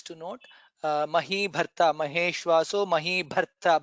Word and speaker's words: महीभर्ता: Mahi Bharta, Maheshwaso Mahi Bharta. Bha is Mahaprana there.